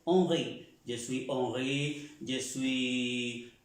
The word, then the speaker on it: Henri: Je suis, en el caso de presentarse, moi, je suis Henry, o je suis, como se pronuncia Henry en francés, Henri.